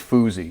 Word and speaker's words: Fusi: And Emma, I believe it's Fusi, is Fusi, the way she pronounces her name.